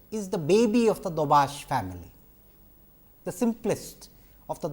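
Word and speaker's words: Daubechies: from dobash filters incidentally as I mentioned dobash or you know sometimes it is pronounced as dobashi has been a mathematician scientist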